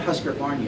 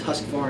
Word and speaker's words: Husqvarna: practice in the industry it's not Husker Barney it's Husqvarna oh yeah I know